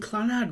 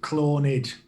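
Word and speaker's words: Clannad: Well, we're saying Clanad wrong.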